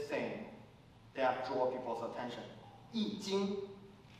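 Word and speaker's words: 易经: Yi Jing is the Chinese pronunciation, and I know we have an English spelling. Probably people call it I Ching or something.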